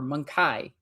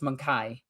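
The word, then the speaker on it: Mon-keigh: Like they call them monkeys or monkai or however you want to pronounce it, but usually it's monkai is how I always seen it done. So I could see the Eldar like having all of these problems.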